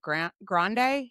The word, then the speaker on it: Grande: And what they were saying was like this person was an Ariana is it Grande? Is that how you say it?